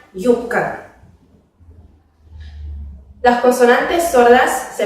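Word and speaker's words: юбка: Por ejemplo, en la palabra vtornik, que se pronuncia como vtornik, se escribe yubka, pero se pronuncia yubka.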